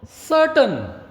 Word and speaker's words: certain: No need to say certain. No, certain. R is being silent.